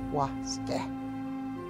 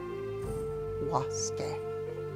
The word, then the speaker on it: waske: waske. Waske. Pronounce it very carefully. Waske. Two syllables.